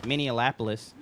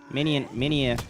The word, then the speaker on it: Minneapolis: Minapolis. Minneapolis.